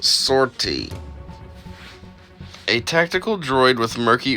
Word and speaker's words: 50R-T: the star wars universe 50 rt pronounced sortie a tactical droid with